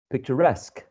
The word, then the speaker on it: picturesque: the last one a picture picture picturesque picture first syllable picturesque okay so in in the in the last example in the last blue box we are seeing some suffixes that somehow attract the primary stress onto them okay and i'm going